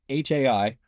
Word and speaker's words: HAI: So as an entrepreneur, then I'm fascinated with this intersection between machines and humans, and I call it HAI. Oh, hi, HAI, pronounced high, human and artificial intelligence.